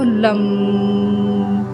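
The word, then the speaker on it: लं: तो आपको लम लम इस तरीके से इसका उच्चारण करना होता है।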